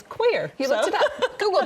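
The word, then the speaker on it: coir: It's spelled C O I R. Okay. Okay. But it's koer. Koer. I always called it core, but I looked it up last night. It's quer.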